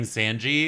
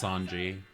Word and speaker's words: Sanji: By the way, I got told that I was mispronouncing his name. I was saying Sanji. It's Sanji.